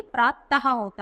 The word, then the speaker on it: प्रातः: प्रातः नहीं, प्रातः होता है, यानी दो विसर्ग। और इसको हम क्या कैसे प्रोनाउंस करते हैं, हा की साउंड देंगे, तो प्रात हा।